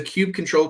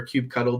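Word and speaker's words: kubectl: we add an annotation you know there's a cube control command uh where you can or cube cuddle depending on how you pronounce it where you can actually just add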